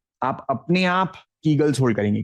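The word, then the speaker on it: Kegels: में आप अपने आप कीगल्स होल्ड करेंगे। कीगल्स की स्पेलिंग मैं बता देता हूं। के ई जी ई एल एस कीगल्स okay it's नॉट ईगल्स pronunciation में कभी-कभी आवाज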